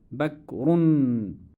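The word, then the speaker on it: بكر: Ismi Bakrun. And if I stop at the end, I would say Ismi Bakr.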